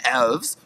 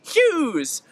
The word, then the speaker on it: Elwes: Cary Elwes? You mean the man that's actually in the real Robin Hood Men in Tights? Yes, however, they pronounced his last name incorrectly and they said Cary Hughes.